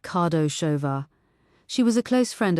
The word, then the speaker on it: Kardasova: Also, I want everything you can find on a woman named Barbara Kardasova, pronounced Kardashova.